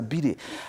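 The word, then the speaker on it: bidet: Det so you know because a friend don't pronounce T that's why it's called a Biddy I was toting invest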